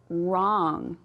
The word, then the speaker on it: wrong: Okay, so over here we have wrong. What's our word? Or what's our letter that's silent? That's right, the W.